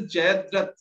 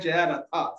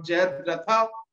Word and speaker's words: Jayadratha: very strict on pronunciation, but like you said Jayaratha. So I mean, that's not a character. So unfortunately, Ansh can't give you any points for this one. It is Jayadrat or Jayadratha without just the R.